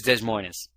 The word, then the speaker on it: Des Moines: she realized she's in Des Moines. She had no idea how to say that. Which is Des Moines. Although the S is silent at the end, so it's just By the way, it is properly pronounced Des Moines.